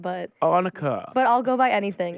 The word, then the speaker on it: Annika: I think it's the accent, but Annika.